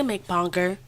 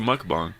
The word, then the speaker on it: mukbang: She's a McBonger. What? A McBonger. She does McBongs. She has the No, channel. it's called mukbang.